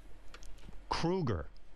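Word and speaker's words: Kroeger: And Chad, you know, your last name is Kruger. Thank you. I don't know I've if been you know pronouncing that.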